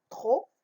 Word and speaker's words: trop: Trop, la lettre muette, c'est T.